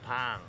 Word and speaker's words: bang: What is a PC bang? PC bang? No, not bang. It's pang. That's right. The Koreans pronounce their A's very differently for around 2 million won, just under.